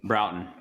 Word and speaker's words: Broughton: So is that Bruckton? Do we pronounce that Bruckton? Broughton.